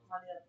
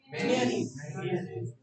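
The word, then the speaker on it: mayonnaise: इससे हार्डेस्ट मानी जाती है। इसकी pronunciation बताओ। मेयोनीज। pronunciation क्या होती है? मेयोनीज या मेनीज? The pronunciation is मेयोनीज।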